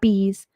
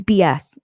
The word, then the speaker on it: BS: my name wrong okay it's not bees it's not Bes it's not be easy it's BS it's b s I'm